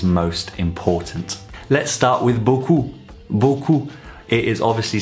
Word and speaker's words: beaucoup: pronouncing it incorrectly so you'll know where your pronunciation of this sound is most important let's start with buku buku it is obviously said most of the